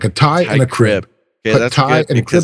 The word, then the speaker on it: Teichrib: tie and a crib tie and crib together I was gonna say TI cribe for some reason okay